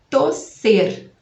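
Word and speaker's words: toser: Tosser. Tosser. Vai ser com O e um S só, porque não tem 2 S em espanhol. Tosser.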